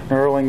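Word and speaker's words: knurling: I know uh couple of video ago, guys, I accidentally called it a colonel. It's a kind of a silent K there. So, nurling the valve guides.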